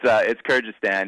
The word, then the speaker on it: Kyrgyzstan: Kyrgyzstan. Kyrgyzstan, is it? I'll give you another try, but it's Kyrgyzstan.